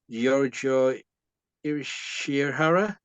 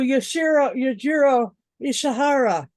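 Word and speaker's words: Yujiro Ishihara: You also had, now how do you pronounce this? Giorgio Ishihara as a Yamamoto. Oh, Yajiro Ishihara.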